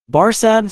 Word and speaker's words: Barsad: Barsad, said Defarge, making it French by pronunciation, but he had been so careful to get it accurately that he then spelt it with perfect correctness.